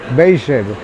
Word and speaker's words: Beijer: llegó y nos vinimos aquí cerquita a unas dos cuadras a la casa Beer. Beijer se pronuncia.